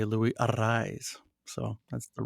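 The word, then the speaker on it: Luis Arráez: and uh he um he does the rolling of the RS with a double r so uh it when they announce him they say Lou arise so that's the right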